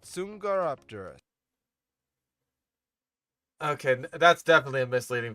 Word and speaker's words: Dsungaripterus: Or whatever the fuck you're pronouncing it as. But it's called Dsungaripterus.